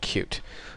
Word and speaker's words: Qt: be covering it's called cute it's spelled QT but it's pronounced cute and when you search